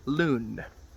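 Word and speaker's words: Lune: His name is Loon, as in L-O-O-N, even though it's spelled L-U-N-E.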